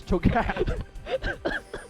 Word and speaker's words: Cho'Gath: is an american game therefore cho gap h is silent so it's choka how could we forget